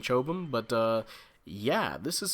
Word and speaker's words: Chobham: suit the Alex CA which I believe stands for chobum armor might be chop him however you want to pronounce that I think I'm gonna be saying chobam but uh yeah this